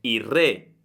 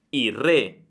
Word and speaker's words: il re: i giorni è che la L di il diventa una R. Quindi la pronuncia sarebbe il re, il re. Guarda, non pronuncio più la L, ma una R, il re.